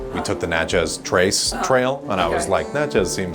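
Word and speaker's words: Natchez: Let me tell you, you got to pronounce it like Mississippians pronounce it. Okay. Nachas. Nachas. You're saying Nach. Nachz.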